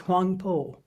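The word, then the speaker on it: Huangbo: The Chinese reading of those characters is Huangpo.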